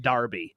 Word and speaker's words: Derby: is awesome a name it's spelled Derby but it's over there it's pronounced Darby a Darby Bingo you